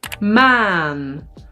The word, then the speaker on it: maan: This is man a short and maan long a or vis short i